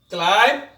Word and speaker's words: climb: to the letter b b is silent before t and after m for example dao subtle subtle means